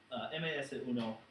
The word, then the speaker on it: MS-1: Uno or ms1 rather if we're pronouncing it in Spanish it would be Masa Uno um paper TOS uh under the sink Mas Uno versus SRE chakana hair